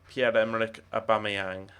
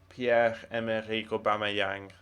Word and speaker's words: Pierre-Emerick Aubameyang: I know it's Pierre-Emerick Aubameyang. Or, in fact, given that he's from the Gabon, which is a French-speaking country, it's probably Pierre-Emerick Aubameyang. Aubameyang. Pierre-Emerick Aubameyang is probably how you'd say his name if you were from his native country.